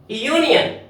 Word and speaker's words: union: यूनियन, यूनियन ये भी य की आवाज आ रही है।